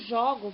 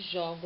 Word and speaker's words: jogo: Jogo, som fechado. Jogo, som aberto.